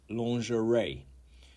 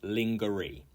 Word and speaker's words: lingerie: the Day 26 is lerie which you can guess this must have been a French word um 90 95 5%